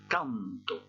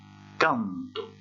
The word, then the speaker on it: canto: Je vous montre pour le premier mot, qui signifie je chante, canto. Je répète, canto. Et j'ai prononcé plus fort cette première syllabe.